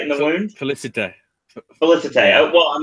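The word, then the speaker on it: Félicité: I see fell sight in the wound. Felicite. Felicite. Yeah. Oh, well, I'm looking at how it's spelled.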